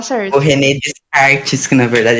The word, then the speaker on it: René Descartes: René Descartes, que na verdade é René Descartes.